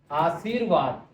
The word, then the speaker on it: आशीर्वाद: आशीर्वाद आप जैसे देखिए आशीर्वाद उच्चारण की तरफ ध्यान देंगे आशीर्वाद है जो की आधा है आधा स्वर है तो वो वहां से पहले आएगा आशीर्वाद ये शुद्ध रूप है इसके अलावा किसी